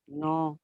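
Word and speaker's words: knee: के साइलेंट कैसे रहेगा, देखो कोई वर्ड बताइए। हाँ, नो, नाइफ मैम, नो।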